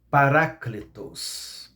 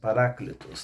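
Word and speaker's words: parákletos: Mas se fosse pronunciar no grego seria héteros. 2. O Paracleto, né? Em grego é Paráclitos. Paráclitos no grego.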